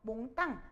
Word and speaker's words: 몽땅: 그런데 여러분 정확한 발음 알고 계시죠? 몽땅, 잔뜩, 담북 이렇게 발음해야 돼요.